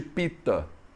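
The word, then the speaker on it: Pitta: Você vai ver muitas pessoas na Índia pronunciando, por exemplo, o nome dos doshas como Vat, Pit, Kapha. Eles tiram o negócio da última vogal. Então é muito normal você falar Pit, Pit, em vez de Pita.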